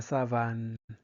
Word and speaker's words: savane: prononce plus on par exemple ici on ne prononcez pas savon savon puisque il y a la la voyelle donc on dit la savane c'est bon parfait elle porte une grande robe